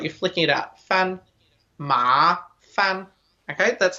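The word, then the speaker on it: 麻烦: okay just like you're flicking it up fan ma fan okay that's how we pronounce it and this means troublesome bothersome okay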